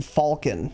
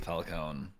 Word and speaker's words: Falcon: It's a fucking it's the Millennium Falcon, man. That's a Millennium Falcon. It's pronounced Falcon, by the way. I don't know if you knew that. Yeah. Americans will say Falcon sometimes, and that bothers me.